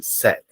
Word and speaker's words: said: verb say set set don't forget the pronunciation set for example the teacher